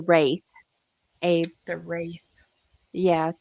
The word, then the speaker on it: Wraith: I think I did say that wrong. It's The Wraith.